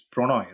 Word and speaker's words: Pronoy: It's Pronoy, right? Yeah, it's Pranay. It's a Bengali thing, yeah, Yeah, I Pranay.